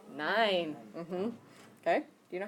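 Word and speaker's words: nein: means yes how do you say no n nine mm okay do you know how to spell that one NE i n yeah sometimes people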